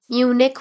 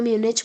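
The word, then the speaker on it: Munich: म्यूनिक बोलो म्यूनिच बोलो कोई फर्क नहीं पड़ता, बस स्पेलिंग याद होनी चाहिए।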